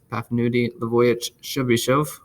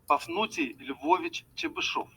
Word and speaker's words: Pafnuty Lvovich Chebyshev: Here it is, Pafnuty Lvovich Chebyshev. Pafnuty Lvovich Chebyshev.